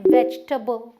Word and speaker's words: vegetable: हम वेजिटेबल नहीं बोलते, ना तो हम वेजी बोलते हैं, ना तो टेबल मेज वाला टेबल, हम बोलते हैं वेजिटेबल, वेजिटेबल, ना ई है ना ए है, वेजिटेबल।